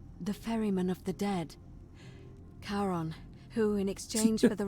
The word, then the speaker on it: Charon: You heard wasn't Karen. I didn't even think about it that. Was Charon. Nice. As in Charon, the ferryman of the dead. Charon, who in exchange for the right coin, They